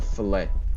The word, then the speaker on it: fillet: It's a fillet. It's a fillet. It's got 2 L's. It's not French. It's a fillet. What? It's a fillet. It rhymes. Fillet away.